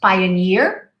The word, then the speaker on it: pioneer: Pioneer, double E, it usually has a ni sound, pioneer.